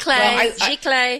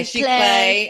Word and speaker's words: Giclée: also have those lovely prints, which I can't pronounce the word. I think Yvonne knows how to say it. Giclée. Yeah, Giclée.